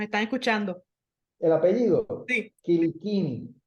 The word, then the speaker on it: Quilicini: El apellido, Sí, Kilikini. Quilicini. Se Yo hice escribe la Kilicini, pero se pronuncia Kilikini.